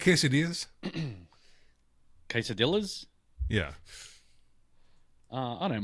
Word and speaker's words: quesadilla: So, if there's a double L, it's it's pronounced with a Y.